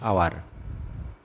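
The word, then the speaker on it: hour: Dash Tripitaka দা ত্রিপিটক যেহেতু ত্রিপিটক একটি ধর্মগ্রন্থ ড্যাশ আওয়ার এন আওয়ার যেহেতু এইচ সাইলেন্ট রয়েছে ড্যাশ ইউনিকর্ন এ ইউনিকর্ন যেহেতু ইউর মত উচ্চারণ হচ্ছে ড্যাশ সুপ্রিম কোর্ট দা সুপ্রিম কোর্ট ড্যাশ ইউক্যালিপটাস।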